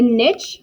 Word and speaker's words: niche: so there's that moving on oops so a niche which is how you pronounce that word is a species role in